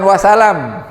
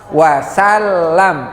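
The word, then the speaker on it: وسلم: Bukan sallallahu, tapi sallallahu alaihi wasallam, bukan wasalam. wasallam, pakai tasdid.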